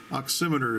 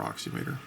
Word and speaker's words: oximeter: oximeter provides you know oximeter is from the big book of pronunciation I prefer it over oxy meter but thusly saving your